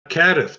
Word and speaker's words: CADTH: How do you pronounce that? CADTH. Try CADTH. I will try it, CADTH.